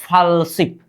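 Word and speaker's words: 팔십: क्या होनी चाहिए शिप होनी चाहिए क्या शिप उच्चारण क्या होगा फलशिप क्या होगा फलशिप उच्चारण कीजिए मेरे साथ फॉल्स शिप होनी चाहिए फॉलशिप का मतलब क्या हो 80 हो गया क्या?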